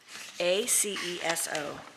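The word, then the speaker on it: ACESO: of licensure we have one um a-c-e-s-c-s-o -s -a-c-e-s-o Institute of Health Professions in Longwood number 7630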